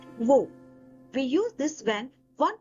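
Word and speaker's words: वह: In formal or written form of Hindi, it is "Vah”, but in everyday speech, it is usually pronounced as “Vo”.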